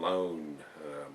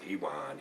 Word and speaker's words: Ioan: It's spelled Ioan, and I thought it was an L, and I was calling him Lone, but it's pronounced Ewan, E-W-A-N, Ewan.